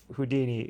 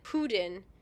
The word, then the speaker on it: Houdin: sir I like that Ryan pronounces it houdin close to Houdini without the I jack pronounces it Udan in the French style and Mickey just wants